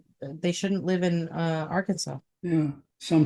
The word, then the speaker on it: Arkansas: a law in Arkansas that Arkansas must be pronounced Arkansas so if you go to Arkansas and say Aransas you're in big trouble mister right I think